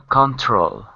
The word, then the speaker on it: control: stresses H it's a control the stress is where the apostrophe is in front of the T So second syllable control control right and so if you're